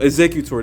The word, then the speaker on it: Exeggutor: Um, Exeutor, there it is. If Exeggutor is like the only one, Exeggutor with Erica is like the only one that's going to maybe counter that.